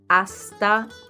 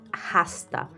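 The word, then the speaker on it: hasta: you can say adioso notice how the H is silent AA prto it's not Hast AA prto let's have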